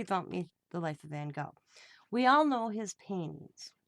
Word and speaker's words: Van Gogh: to know about vincent van gogh it's actually van gaal we say it wrong here in america so dawn's been asking